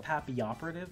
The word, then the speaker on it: Papilloperative: I think it's pronounced Papioperative because it's a play on Papillon, which is.